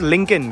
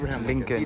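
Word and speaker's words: Lincoln: The pronunciation is लिंकन, right? लिंकन।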